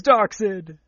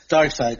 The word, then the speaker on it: Darkseid: mark tied up exid oh no it's dark sid dark in love that would be s IDE not a CID it's pronounced the dark side okay number seven the